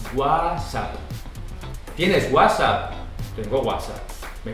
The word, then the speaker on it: WhatsApp: Porque no espanhol a gente fala WhatsApp. A gente não pronuncia o T. E esse W a gente pronuncia G. WhatsApp.